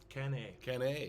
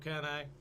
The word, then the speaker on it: Cannae: Cannae. Cannae. That's the Latin pronunciation.